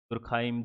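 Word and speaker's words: Durkheim: एक फिलोसफर हुए थे जिनका नाम था एमिल, या एमाइल भी कहते हैं कुछ लोग, दुर्खिम। एमाइल दुर्खिम या एमिल दुर्खाइम, दुर्खिम, बहुत सारे लोग अपने प्रोनाउंस तरह से करते हैं।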